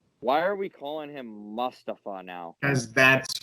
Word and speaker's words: Mustafa Ali: Why are we calling him Mustafa now?